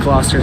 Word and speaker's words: Gloucester: always more room gloucester there we go it's pronounced in gloucester thank you very much folks in the usa